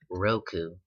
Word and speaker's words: Roku: I don't know how to pronounce it. I think it's pronounced Roku, and it's basically just